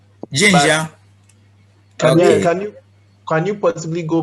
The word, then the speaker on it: Zhenjiang: How do you pronounce it? Zhenjiang. Zhenjiang.